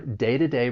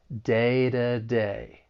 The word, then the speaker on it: day-to-day: When it comes between two vowels, I'm going to pronounce it as a flap t. So, it's going to sound more like a soft d. Day to day.